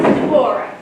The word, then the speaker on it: Deborah: It's pronounced Deborah.